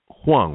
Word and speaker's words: Huang: your your last name hang right yes hang it's like w n g with an H in front of it right you know what's